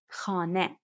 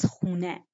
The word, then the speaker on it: خانه: Khane. Khane turns its an into un in everyday speech and becomes khune.